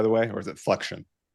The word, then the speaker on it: Flexion: Is that the right pronunciation, by the way, or is it flexion?